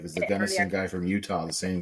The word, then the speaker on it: Gunnison: Somebody said they bought their first Jeep in Gunnison.